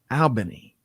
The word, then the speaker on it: Albany: Scott and thank you good morning Gary it's pronounced aliny Albany I never get see that's part of the